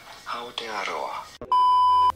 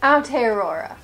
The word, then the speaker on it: Aotearoa: In Maori, it is said as Aotearoa. Like I was saying, Aotearoa.